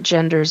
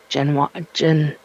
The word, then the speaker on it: genre: It's not genders, it's gen Genre.